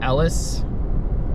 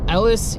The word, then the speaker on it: Elese: It's a 2016 Megabass Destroyer, and I believe it's pronounced Elese, E-L-E-S-E.